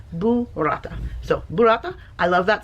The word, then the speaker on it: burrata: Pronounced properly, it's burrata. Like a boo. Like boo. It's Halloween, right? Boo-rata.